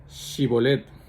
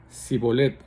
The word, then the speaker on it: Shibolet: Entonces le decían, "Ahora pues di Shibolet." Y él decía sibolet porque no podían pronunciarlo correctamente. Entonces le echaron, echaban mano y le degollaban junto a los vados del Jordán.